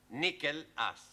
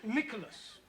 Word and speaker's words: Nicholas: upon a times there was a man called nickel ass that's not quite right no no once upon a time there was a woman called Nicholas it's pronounced Nicholas all right once upon a time there was